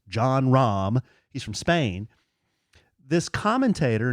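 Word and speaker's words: Jon Rahm: named John Rahm, and his whole name, he has 2 syllables, John Rahm.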